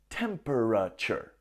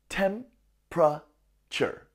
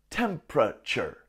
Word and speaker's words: temperature: strange word temperature if you'll notice it's not pronounced temperature no the center gets Square and we just say temperature repeat temperature the temperature is rising hey what's the temperature